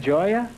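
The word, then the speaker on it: Gioia: Joya.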